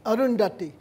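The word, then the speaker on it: Arundhati: sale could you could you teach me how pronounce like andachi Roy like the name arundati arundati yeah Roy when I was up and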